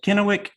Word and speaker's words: Kennewick: may get this wrong is it kennewick that's correct i said it right can it wait i